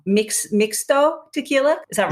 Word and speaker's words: mixto: love and it probably was and i'm gonna pronounce this wrong mix mixto tequila is that right that's right yes yeah